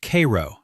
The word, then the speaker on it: Cairo: It is pronounced Cairo, not like the Egyptian capital, though the name was chosen deliberately and with the full weight of 19th century American ambition behind it.